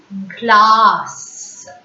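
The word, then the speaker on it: glace: Glass. Glass. Hope you remember. Just now we learnt that there is no need to place cedilla in front of E. Automatically C takes the sound S. So glass.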